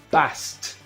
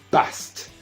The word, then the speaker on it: passed: No es passed. Aunque lo escribamos con ed al final, se va a decir passed. Exactamente. Si estaban pensando en past, muy bien. Esta ed se va a pronunciar como t, past.